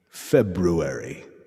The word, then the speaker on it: February: happening and he says you should absolutely pronounce the r in february and i was like